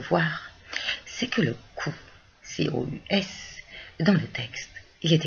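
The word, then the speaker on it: cos: Eh bien, parce que là, c'est notre petite histoire du haut long latin qui était prononcé ou. Les latinistes, eux, ne sont pas surpris. Et donc, ça ne se lit pas cause, ça se lit cous.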